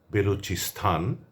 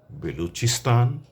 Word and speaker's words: বেলুচিস্তান: অনেকেই বলেন পাকিস্তান, আফগানিস্তান, বেলুচিস্থান এমন করে বলা চলবে না। আমরা বলবো না। তো আমরা কেমন করে বলব? আমরা বলবো Pakistan, Afghanistan, বেলুচিস্তান, Baltistan, Uzbekistan, Turkmenistan, Kazakhstan, Kyrgyzstan, Tajikistan, দাগিস্তান ইত্যাদি।